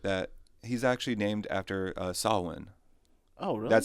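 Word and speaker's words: Samhain: he's actually named after sawin oh really that's how they got the name Sam because sawin is actually like spelled like Sam Hine or Sam Hayne and stuff so they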